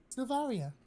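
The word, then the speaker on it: Sylvaria: on what's your name again sorry I forgot Saria how do you spell that s y l v a r i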